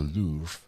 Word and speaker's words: Louvre: The Louver, the the uh or the Louvre, depending on how you say it.